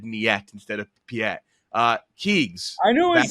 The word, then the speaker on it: Piet: Admiral Niet. Final answer? Yes. Close, Frank. It's Admiral Piet with a P. Admiral Piet.